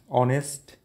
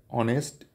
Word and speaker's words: honest: start with a o honest H is not uh pronounced here honest and honor H is not pronounced and our h o